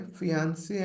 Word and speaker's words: fiancé: And this is, okay, fiancé and fiancé. Okay. So this is basically two people who have been engaged. Okay. Fiancé and fiancé. So both pronunciations are same actually.